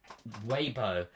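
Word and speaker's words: Weibo: on wayo on I need to fix my pronunciation here I am sorry guys on waybo there we are on way um and yes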